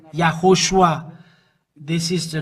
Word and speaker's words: YAHHOSHUA: YAHHOSHUA is his name, and this is the way to pronounce it.